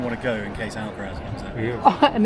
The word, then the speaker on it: Alcaraz: Alcaraz. Alcaraz. You don't say the Z. Oh, don't you? No, he had a press conference about it.